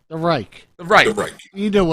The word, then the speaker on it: Reich: I know it's the Reich.